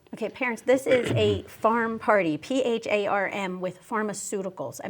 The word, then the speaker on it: pharm: Yeah, they're called farm parties, but it's spelled P-H-A-R-M.